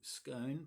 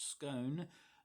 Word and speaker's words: Scone: couldn't make it to SCONE, pronounced scone, not scone, like some of the Melbourneites who I thought they